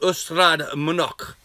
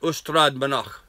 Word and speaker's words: Ystrad Mynach: And in fact, we were being hosted by a school and a community in Wales called Ystrad Mynach, I think is the correct way to pronounce that, Ystrad Mynach.